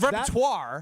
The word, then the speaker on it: repertoire: And also, I don't think that's how that word is pronounced. It's repertoire.